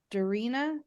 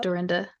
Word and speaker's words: Dorinda: Jackie: And then Aqua and Doreena, is that how you pronounce it? Dorita. Yep. Dorinda.